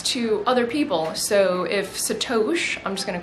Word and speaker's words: Sato.sh: over the weekend called I'm not even sure how I would pronounce it, Sat. It's sat o, but then it's sh. So it's like Satoshi, like Satoshi.